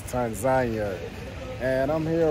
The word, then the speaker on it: Tanzania: It's like tomato, tomato, but I think the proper way to say it is Tanzania.